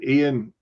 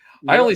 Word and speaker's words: Ian: all be worth it I only say that because it's weird when he pronounced his name ion I'm like Ian it's Ian when he makes an appearance